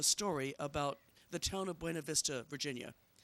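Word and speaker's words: Buena Vista: about the town of buav Vista Virginia I think they pronounced it buav Vista but my sister-in-law is Hispanic and I can't quite bring myself to pronounce it that way so bear with me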